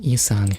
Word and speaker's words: Yi-sang: Also, why is it spelled with a Y? It's not pronounced with a Y, it's just Yi-sang.